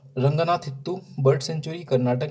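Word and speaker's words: Ranganathittu: कर्नाटक की यदि बात करें तो यहाँ पे हमें रंगनाथु, तो ये दोस्तों इसका थोड़ा सा प्रोनाउंसिएशन मुझसे सही नहीं हो रहा है, क्या है, रंगनाथित्तु है ना, रंगनाथित्तु बर्ड सेंचुरी, ये दोस्तों हमें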